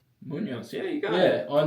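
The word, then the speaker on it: Muñoz: Munoz.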